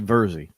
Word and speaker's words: Virzi: It's actually Virzi. Virzi. Okay, Virzi. I had two in my mind, and I unless you go to Italy and they don't pronounce the R, then it's just Vizi.